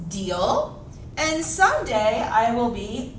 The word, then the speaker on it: Diehl: you first of all my name is miss deal i know it's spelled raw kind of weird it is no not miss die no not dial yes deal and someday i will